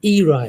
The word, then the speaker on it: era: One is era, and even our good pronunciation model is this is Rakibul has pronounced as era. It's era actually, and we also make this pronunciation.